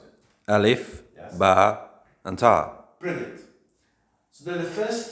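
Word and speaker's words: ت: And we pronounce this letter as Ta.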